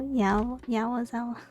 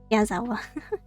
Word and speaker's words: Yazawa: Nico Yawazawa. Yazawa.